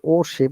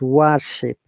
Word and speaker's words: worship: Okay, so worship, yeah, it is not worship, it is worship. So W is wa sound.